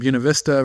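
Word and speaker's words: Buena Vista: We've got uh Uncle Voodoo tabing in from Bunav Vista, Virginia. That's the correct pronunciation, by the way, folks.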